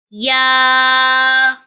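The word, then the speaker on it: ياء: kindly read after me yeah comes from the middle of the tongue to pronounce yeah this is yeah kindly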